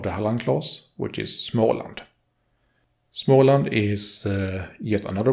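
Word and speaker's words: Småland: would be small land the first port of the named smoke has the same o sound as when you say the letter O though without almost W ish sound which normally one uses when finishes of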